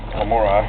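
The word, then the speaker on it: Brachypelma hamorii: Brachypelma homori. Homori is the proper pronunciation.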